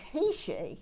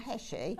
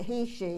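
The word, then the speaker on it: heishi: spinner so a sort of and actually you pronounce these beads HEI not heshi but it doesn't really matter we all know what what we're talking about but HEI it was a tribe in New Mexico apparently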